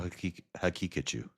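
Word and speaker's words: Haqiqatjou: Is there any chance at all that you're mispronouncing the Muslim guy's name? No, that's how you say it. Daniel Hakikachu.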